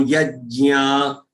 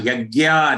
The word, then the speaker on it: यज्ञ: Now again, whether it is yajna or yagya or yajna, your own regional pronunciation. Stick with that.